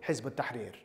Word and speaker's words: Hizb ut-Tahrir: And that was the ideological Islamist conversation that led to me joining Hizb ut-Tahrir. That's how you pronounce it.